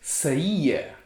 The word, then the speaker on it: saía: word saya skirt and another word which is saiya she was exiting right so maybe your grandmother